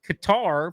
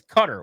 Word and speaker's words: Qatar: It's It's Qatar versus Cutter where it's actually cutter.